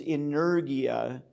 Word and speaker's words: energia: very nearly worded um the one is inergia spelled like energy with an i a on the end inergia and the other is